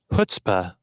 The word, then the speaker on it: chutzpah: How is it pronounced? Chutzpah.